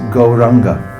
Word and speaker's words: Gauranga: It's 4 syllables, but it's pronounced Gauranga.